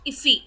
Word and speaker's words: IIFE: అలాగే immediately invoked function expression వచ్చేసి an immediately invoked function expression or iffy function, pronounced iffy, మనం దాన్ని ఇఫీ function అని కూడా పిలవచ్చు, ఈజ్ a function that ఈస్ called immediately after it ఈస్ defined.